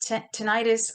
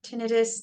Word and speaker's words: tinnitus: The next one is tinnitus or tinnitus, depending on how you want to pronounce it, but that's the ringing in the